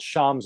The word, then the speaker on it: Schaum: One of them, there's a series of books called Sham's Outline. You spell it SCHAUM, SCHAUM, Sham's Outlines.